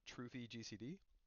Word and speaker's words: TrufiGCD: of abilities here is a gcd Tracker called trophy gcd it's spelled t-r-u-f-i I'll put it down in the